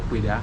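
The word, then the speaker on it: Ouidah: We say Wida now because of the French. They could not pronounce very well Kweda, and they said Wida.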